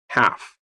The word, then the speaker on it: half: G is silent. Dishonest. H. Doubt. B. Foreign. G. Half.